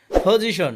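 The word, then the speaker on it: position: পজিশন অর্থ অবস্থান, পি এর উচ্চারণ ফ হবে।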